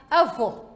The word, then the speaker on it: avô: Se a sílaba tônica, se indica a sílaba tônica com vogal fechada, então temos que ler estas palavras em que a sílaba tônica tem que sair o som fechado.